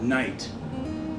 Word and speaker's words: night: but before we do for instance the word night like you know not the day nighttime right ni ght why is it GH it used to be something